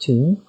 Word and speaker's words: Thum: Dark flower of the Thum. Pronounced tomb.